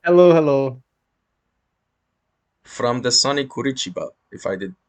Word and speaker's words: Curitiba: From the sunny Curitiba, if I did pronounce that right. Exactly. It is pretty sunny actually, and it is Curitiba.